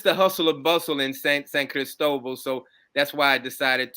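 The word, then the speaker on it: San Cristóbal: to Joelle Jordan and he says it's pronounced San Cristobal well I I used to say Saint Crystal Ball but uh I I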